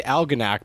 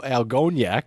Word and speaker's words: Algonac: lake pontiac and uh i heard the guy say algonac before like an idiot i said al algoniak so that actually makes sense though i mean that's just how it's phonetic you just added the spanish nunes to it right well and i and i put the stress on the o and not the uh the algona instead of algoniak i guess i guess